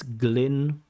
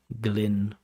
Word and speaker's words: Glyn: It's Glyn, and it's Glyn. Glyn, Glyn. It's the Welsh version of the name Glenn. Means the same thing. Irish Glen, Welsh Glyn.